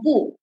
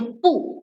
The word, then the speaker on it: 不: Then the next one is about the word "e" and "bu." So these two words, how do you mark the tone for them? Depend by the word put after it.